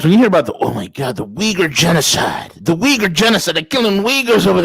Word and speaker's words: Uyghur: Okay, we know that the word Uyghur rhymes with a certain N word in the Western world.